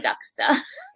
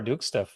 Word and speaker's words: Duksta: the C and star without the r Laura ducka well first of all that's awesome I've been calling you Laura duksta for I think forever so thank you for